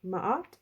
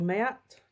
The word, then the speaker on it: Ma'at: This is Ma'at or Mayat, depending on how you pronounce this, but Ma'at to me.